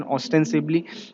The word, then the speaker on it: ostensibly: Okay, सो ऑस्टेंसिबली है ये, इसका करेक्ट प्रोनाउंसिएशन ऑस्टेंसिबली।